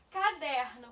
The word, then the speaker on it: caderno: Então, caderno. Qual é que você pronuncia com mais intensidade? Caderno. Veja que o der, a sílaba der, ela é pronunciada com mais intensidade.